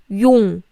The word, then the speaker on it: 용: Yes, when I say 영, my mouth is bigger. So try to think. I pronounce sound, and try to pronounce o sound, such as o. Not o, My mouth is here, but my shape of my mouth is trying to pronounce o, such as o. This is o. 영. This is, your mouth is small, circle.